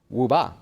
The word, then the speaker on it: WUBA: WUBA is how you say it, if you're going to say it in Chinese there.